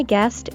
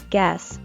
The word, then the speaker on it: guest: use or take something be sure to pronounce the final sound to T in guest otherwise you will call it guess which is a completely different word guest s be my